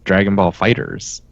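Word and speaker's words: Dragon Ball FighterZ: ones just be called dragon's salt no it's Dragon Ball fighters you sure yeah I mean it's spelled with a Z at the end but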